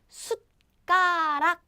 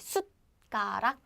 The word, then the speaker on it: 숟가락: 숟가락. So we have this 숫. So it's like 숫. It's not 숫. So don't breathe out your air like 숫. But just stop after pronouncing it. 숟가락, 숟가락.